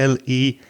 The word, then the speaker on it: least: noticed in your message the word least which is s l-e-a-s-t has a long vowel sound e like c or me or we so it's to say